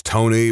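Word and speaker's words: Toekne: hits home for me I know a guy whose name is Tony but it is spelled toy that is so freaking dumb no that's the worst name that's the worst name for a smidgeon of context for those of you who maybe don't understand their name is spelled t o e k NE e it's dumb that's so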